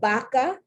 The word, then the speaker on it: vaca: So vaca and bebe have the same pronunciation. And it has the ba, ba, ba sound. It is not the va, va, va sound.